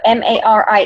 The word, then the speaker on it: Mari: so she's okay so ma RI e and not ma ma RI but it's it rhymes with like Ferrari actually I heard an